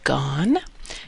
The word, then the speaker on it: Gaughan: uh as I said my name is Professor gone if you ignore the consonants in the middle you will be pronouncing my name correctly uh and that's me